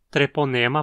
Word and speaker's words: Treponema: uma causadora de uma, Treponema pallidum, a bactéria que causa sífilis. O nome do gênero significa algo como fio torcido em grego. O ne na penúltima sílaba é longo.